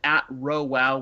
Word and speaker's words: RhoWow: my personal Twitter feed, you can go to @RowWow, which is spelled RHOWOW.